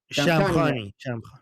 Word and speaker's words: Shamkhani: Shamkhani Thank you. I can't do the right. Forgive me. Thank you, Armin. The Shamkhani No, try try try try it.